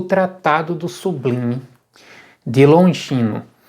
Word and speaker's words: Longino: vai chamar de Longuinho tem gente que vai chamar de longe no Eu já vi as duas pronúncias Particularmente eu prefiro chamar de longe no né tenho preferido assim porque afinal de contas existissem o depois dele em língua portuguesa soar como Longuinho fica estranho né é este é na